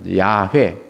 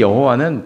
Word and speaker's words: 야훼: 근데 여호와는 발음이 원래가 발음이 아니고 야훼죠. 야훼.